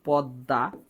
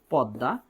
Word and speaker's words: পদ্মা: আবার আমি যদি বলি পদ্মা পদ্মা তার মানে এটা হয়ে যায় পো দয় হসন্ত দয় আকার পদ্মা এটা উচ্চারণ কেন ওকার হয় কারণ কোন একটা শব্দের